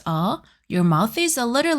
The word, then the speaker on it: ㅗ: O.